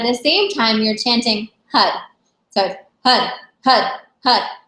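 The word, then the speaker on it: Har: At the same time, you're chanting HUD. So HUD, HUD, HUD. It's spelled H-A-R, but it sounds like H-U-D, and you're really making it from your navel point.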